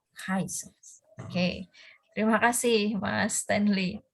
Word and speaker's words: Giesels: Dalam bahasa Belanda ada G itu jadi namanya Giesels. Giesels.